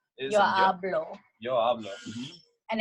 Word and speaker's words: hablo: Yo hablo. And it's not hablo.